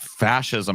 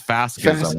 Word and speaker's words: fascism: past the first word he mispronounces fascism is fasis then it just gets